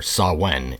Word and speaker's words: Samhain: the heavy blues rock Sam Hayne or sawen is actually pronounced properly